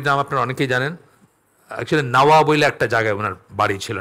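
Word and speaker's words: النووي: নাওয়া থেকে নাওয়াবিনখান থেকে বাংলায় তো আর এই উচ্চারণটা হয় না নববী বলি আমরা নববীর সাথে নবীর কোন সম্পর্ক নাই নাওয়াবি আসলে নাওয়া একটা জায়গার নাম ওখানে উনার জন্ম ছিল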